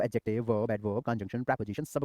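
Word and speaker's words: adjective: भाई इंग्लिश में जो एडजेक्टिव होता है एडजेक्टिव एडजेक्टिव नहीं होता एडजेक्टिव होता है डी साइलेंट कर दो क्या करो तो डी को साइलेंट करके पढ़ लो ठीक है तो क्या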